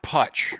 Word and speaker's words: Putch: say it for me putch rhymes with Dutch Dutch and we have